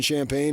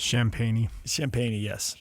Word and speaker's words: Champagnie: Champagne Julian Champagne is 24. Uh yeah, he's 24. So, uh How do you say his last name? I think it's Champagnie. Thank you.